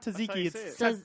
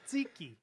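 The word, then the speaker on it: tzatziki: tricky one for me no it's not taziki's no no it's like to put you to this zeeky zeeky sauce I think oh my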